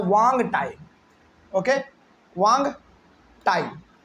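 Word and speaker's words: Hoang Ti: एच ओ ए एन जी। नहीं actually इसमें ना एच जो है वो साइलेंट रहता है। तो ये हो जाता है वांग टाई।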